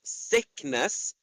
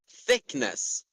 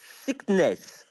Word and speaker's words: thickness: So, if you don't want me to hear you say sickness, you need to correctly pronounce the word thickness. So, thickness. Thank you.